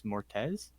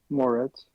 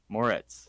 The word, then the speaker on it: Moretz: to pronounce her name chloe grace mortez moretz moretz thank you um i don't know why i said tez i'm because of swapping the t and the e um she voices kaguya